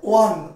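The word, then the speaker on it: won: উচ্চারণটা কখনোই ওন হয় না, উচ্চারণটা হয় ওয়ান, উইন, ওয়ান, ওয়ান।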